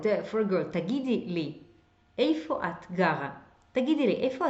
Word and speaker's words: איפה: This O from איפה can be kind of swallowed. תגיד, איפה אתה עכשיו? Like O turns into, and ta, they kind of merge together.